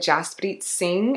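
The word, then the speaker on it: Jaspreet Singh: love minority mindset with Jos bit sing I believe is how you pronounce his name he talks a ton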